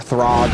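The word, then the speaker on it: Thragg: know thrag or TH throg or however you want to read it but um I've always pronounced it in my head as thrag it sounds so much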